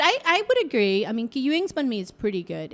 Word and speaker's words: Ngoc Huynh: How do you correctly pronounce it? Ngoc Huynh. Yeah, okay. So I call it Kai Din.